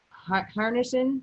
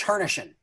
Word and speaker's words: Hernischen: This month we have Harnison. Is that how you say it? If I butchered that, Al? It's Hernischen.